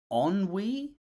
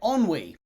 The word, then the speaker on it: ennui: Apparently, it said ennui? Ennui? Oh no. I hope I'm not getting it wrong. Anyway, ennui.